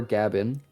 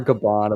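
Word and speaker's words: Gaban: Scopper Gavin.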